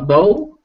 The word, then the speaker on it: bowl: hole bow that's it please do not make this mistake of thinking it's an ow sound because then it's going to sound like bowel and your bowels are